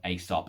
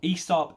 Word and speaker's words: Aesop: i love love love asop esop aesop it depends where you're from it's how you pronounce it you can probably see